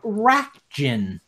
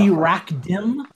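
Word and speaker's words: Racjin: I believe their name is pronounced Rakjin. They used to be Rakdim, but that was just a pronunciation error from like the English translation.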